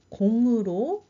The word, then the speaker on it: 공: 전화를 걸어요 지역 번호입니다 여러분 제가 아까이이 숫자 읽을 때 0 2 이렇게 안 읽었어요 뭐라고 읽었냐 공이 이렇게 읽었습니다 전화번호를 얘기를 할 때는 한국 사람들은 보통 0을 공으로 읽습니다 참고로 알아주세요 16번 한국의